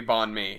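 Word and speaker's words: bánh mì: i can't hear what it is it's absolutely bond me it's bond me let's go all right so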